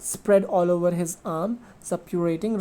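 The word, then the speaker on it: suppurating: uh sorry actually the the correct pronunciation of s-u-p-u-r-a-t-i-n-g is sub-curating right so subpurity is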